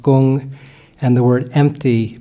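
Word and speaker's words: 工: So if you look on the right side, there's work, pronounced gung, and the word empty, pronounced kung.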